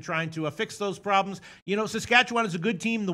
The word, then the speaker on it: Saskatchewan: Saskatchewan is a good team.